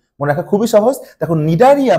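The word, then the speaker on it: Cnidaria: দেখো, নিডারিয়া বানানটা কিন্তু শুরু হয় ইংরেজি বর্ণমালার সি অক্ষর দিয়ে, সো নিডারিয়া।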